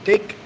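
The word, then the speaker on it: thích: Then, if you want to say, I like licking pussy, you say, Tôi take Liam Long. Like take. It's THIC, but CH, but it's pronounced take.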